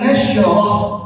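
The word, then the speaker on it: نشرح: Nah, nanti pengucapan shin yang sukun jangan sampai kita bikin atau kita jadikan sifatnya qalqalah. Jadi alam nashrah, nashrah. Nah itu. Kalau orang baca seperti salah. Kenapa? Karena shinnya dipantulkan, diqalqalah jadi nashrah, nashrah.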